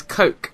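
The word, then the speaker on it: COAQE: And the word I use to remember these 5 points is coke. And not coke as in C-O-K-E. It's actually spelt quite weird. It's C-O-A-Q-E.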